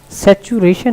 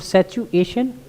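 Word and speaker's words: situation: सैचुरेशन नहीं है जी, सैचुरेशन नहीं, सैचुएशन, सिचुएशन। जी सैचुएशन।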